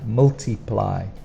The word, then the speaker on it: multiply: mean the same thing so multiply is a difficult one because we have three different vowel sounds but one is a y so when it comes at the end of the verb we use it with as a y multiply and times is not that